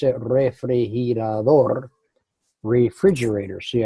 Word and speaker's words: refrigerador: It's a refrigerador, refrigerator. See, ours, we put our accent at the beginning, they put their accent at the end.